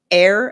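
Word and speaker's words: heir: I said, "Other forms, other words with a silent h are our air as in h e i r.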